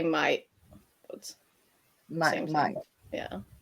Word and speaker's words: Mai: but in Danish it's like my name and the month is pronounced Mai. Hmm. Yes. Really, really good information. So it's actually Mai. Mai. Okay. I Yeah, thi- so yeah. I said it right the first time. That's good. Yeah, just not Maya, like Mai.